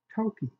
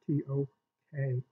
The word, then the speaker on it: Toka: Now, no, you don't spell that T-O-K-A. Actually, you do. I think her name was T-O-K-A. Yes, it was. She was called Toki. She was called Toka. She was called Toke by various members of her family.